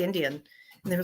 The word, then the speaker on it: NDN: Indian way comedy and spelled n d ndn which I like that spelling h i I did a show last week and they were having a hard time pronouncing it I finally had it just you can just say Indian and they were like